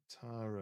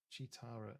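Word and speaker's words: Cheetara: Chitara. Is that how you say it? Chitara.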